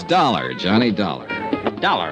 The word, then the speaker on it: Dollar: didn't it's dollar Johnny dollar dollar right it rhymes with color I always like to